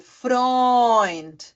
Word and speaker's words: Freund: É E-U, mas aí ele fica com a pronúncia de Oi. Então fica, por exemplo, Freund, Europa, heute, Euro. Tá? Tudo Oi, Oi, Oi.